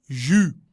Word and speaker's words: jus: Le jus. Muy bien, la S no se pronuncia.